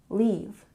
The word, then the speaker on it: leave: syllable deactivate deactivate and leave has a long vowel sound leave leave and 39 turn on base